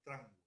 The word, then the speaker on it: tramway: cayó en desuso, fue tramway o tramway. Tramway, sí, Claro, porque en tramway. realidad se escribe tangway, pero la pronunciación es tramway.